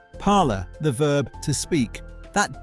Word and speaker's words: parler: Parler, the verb to speak. That dasher ending, drop it. Parler.